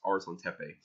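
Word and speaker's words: Arslantepe: the Arslan cafe and I know how to pronounce that now by the way it's ours on tempeh I talked about those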